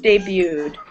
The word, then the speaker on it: debuted: Michael Jackson debuted his signature dance move, the moonwalk. Good. So even though this looks like debuted, it's actually pronounced debuted. Debuted. So it's a silent T.